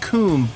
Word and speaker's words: Kum: Today, we're gonna be talking about Kum. It's actually pronounced Kum.